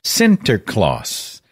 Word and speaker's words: Sinterklaas: netherlands by the way st nicholas is pronounced in dutch as santa claus and of course you